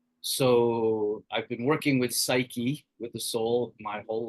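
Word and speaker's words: ψυχή: Our word psyche, pronounced psyche in Greek, means both soul and butterfly.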